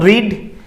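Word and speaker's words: read: ভার্বের third form অর্থাৎ রিড, কনজুগেশনগত বানানগত কোনো পরিবর্তন হয় না, কিন্তু প্রোনাউন্সিয়েশনে পরিবর্তন হয়। রিড, রেড, রেড। ওকে, সো স্পেলিংয়ে কোনো ফারাক হবে না, কিন্তু প্রোনাউন্সিয়েশনে ফারাক হবে।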